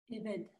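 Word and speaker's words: עֶבֶד: Il faut la voyelle pour la prononcer. Eved. Voilà, Eved. Et le E de Eved, c'est les 3 points en dessous.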